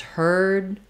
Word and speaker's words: heard: necessarily say herd hurt I say just heard hurt where the vowel is going to be shorter and hurt than it is in heard um so complicated answer